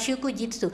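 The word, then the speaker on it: 祝日: Kanji oiwai sama kanji hari dibacanya adalah shukujitsu.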